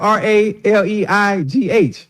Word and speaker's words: Raleigh: But it's spelled R-A-L-E-I-G-H. Raleigh. That's Raleigh.